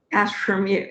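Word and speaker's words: AstrumU: Astrum U. Yeah, I know. It's Astrum plus U.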